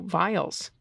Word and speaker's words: viol: music for violas damba or viols pronounced oh vials okay vials um I guess